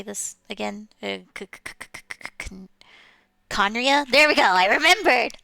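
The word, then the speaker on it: Khaenri'ah: Conria? There we go, I remembered! Ha! Could it have been Conria?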